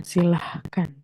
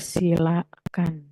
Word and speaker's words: silakan: juga misalnya kayak kata silakan silakan itu tidak pakai h bukan silah kan tapi silakan ya terus misalnya ada